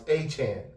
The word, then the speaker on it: Achane: I think I said his last name wrong. It's Achane, actually.